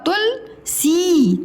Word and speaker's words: तुलसी: सुन, धुन, पशु पशु, तुम, खुश खुश, मधु मधु, तुल, त में छोटा की मात्रा तुल और ल तुलसी तुलसी, मधु रा, मथुरा।